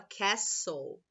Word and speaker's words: castle: Ó, se escreve castle, né? Mas a gente fala castle.